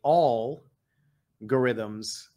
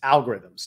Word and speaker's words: algorithms: it incorrectly and say all algorithms uh it's algorithms just like it's algebra and and he thought